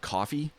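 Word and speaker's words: Koffee: There's this reggae artist called Coffee, spelled with a K.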